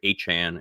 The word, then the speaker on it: Achane: in the air now, so it's yeah, Trevor Achane is apparently the way he wants people to say his name now.